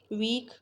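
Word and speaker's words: walk: वोक, L silent है।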